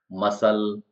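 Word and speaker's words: muscle: सीख जाए एक्स्ट्रा चीज सी साइलेंट इन एस C combination S सी जहां पर भी साथ में वहा पर सी साइलेंट ही होता है मसल मांसपेशी होता है सीजर्स कची होता है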